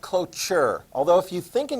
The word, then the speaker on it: cloture: that's good vote of looks like closure but it's pronounced cloture although if you think